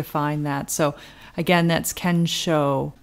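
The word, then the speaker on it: 見性: japanese term from the zen tradition and it's ken show ken show and can means seeing and show means nature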